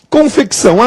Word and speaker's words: confecção: Confecção, confecção tem C mudo? Não, confecção tem um C sonoro sem vogal posterior. Porque se ele fosse mudo, seria confessão.